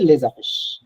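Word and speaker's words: les affiches: হ্যা আফিশ লেজ আফিশ একসাথে বলতে গেলে আপনার সাউন্ডটা আসবে লেজফিশ লেজফিশ লেজফিশ ওকে থ্যাংক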